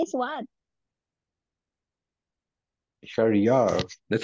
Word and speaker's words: Sharry: name is and your name is Juan Sharia that's how you pronounce it why you're lagging is it your